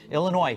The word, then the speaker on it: Illinois: Indiana and New Jersey Illinois silent s I found out meanwhile